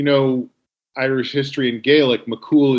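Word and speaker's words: McCumhail: irish history and gaelic mccool is spelled m-c-c-u-m-h-a-i-l it was like a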